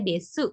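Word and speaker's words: です: Desnya di sini tulisannya desu, dibacanya des. U-nya biasanya tidak dibunyikan.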